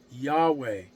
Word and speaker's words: Yahweh: always has sent you Yahweh is how we've come to pronounce that now y v now